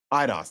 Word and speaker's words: Eidos: It's made by, I think it's still pronounced Eidos Montreal? Eidos, thank you.